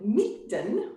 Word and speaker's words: Mitten: that i play with called meekden which is swedish for in the middle but it's spelled like mitten which is sort of